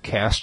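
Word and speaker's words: caste: founded uh partly in reaction to India's uh cast system I looked it up but I never knew how to pronounce it so I finally looked it up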